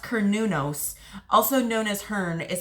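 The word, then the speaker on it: Cernunnos: a nature god um oh pronounced konos also known as Hearn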